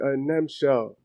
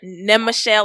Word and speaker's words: Nemchel: Nemchel. Yes. You said it right. Yeah. People usually don't say what? Right. I've heard Nemchel a lot. I hear Nemchel, like 3 syllables.